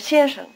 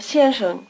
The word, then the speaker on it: 先生: The second syllable of 先生 begins with the same consonant as 是 and 谁, which you make with the tongue curled back. Try repeating Mr. 先生 Your tongue has to shift gears, so to speak, between the two syllables. It's forward for the first syllable, 先, and retracted for the second, 生.